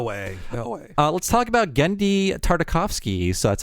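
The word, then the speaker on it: Genndy Tartakovsky: no way no way uh let's talk about gendi tartakovsky so that's how you say his name I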